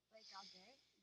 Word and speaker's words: regarde: word regarde or écoute, both you said regarder and écouter, but that's only if there was an R on the end or if there's an accent on the E. Because there's no accent and there's no R. It was just regarde, écoute.